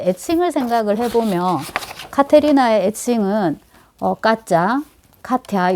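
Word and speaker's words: Катя: 카테리나를 더 많이 보는데, 이거에 이제 애칭을 생각을 해보면, 카테리나의 애칭은, 까짜, 카티아, 요즘 표기법으로는 카차, 그러니까 발음 나는 대로 쓰면 까짜죠. 까짜.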